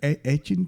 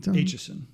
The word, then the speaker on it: Aitchison: It took me a while to make sure I figured it out right, but Aitchison. Aitchison.